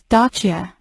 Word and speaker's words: Dacia: and gdations in the video the original correct pronunciation for Dacia is stachia and frigidations it is gedodachians we made this